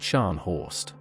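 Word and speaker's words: Scharnhorst: Her target was the German battle cruiser Stanho, the terror of the North Atlantic, pronounced Shanhorst.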